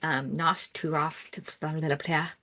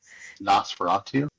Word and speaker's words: Nosferatu: speaking of, I started, how do you say, Nosturov, Nosferatu, that one.